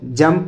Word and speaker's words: jump: उसके बाद JUMP, इसको जंप पढ़ेंगे। जुम्प नहीं पढ़ेंगे, जंप पढ़ेंगे।